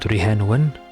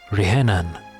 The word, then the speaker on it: Rhiannon: So it's pronounced Rihenan, not Rihenwen? Okay, Rihenan.